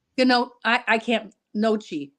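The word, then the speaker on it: gnocchi: no I I can't noi I think it's noi I think the G is silent but yeah I'm not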